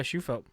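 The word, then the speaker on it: Shewfelt: Yeah, Schufelt. I got to write that down phonetically, or I'll keep forgetting.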